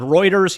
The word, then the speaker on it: Reuters: here we are on Reuters yes not Rutters I'm saying it right this time on Reuters news and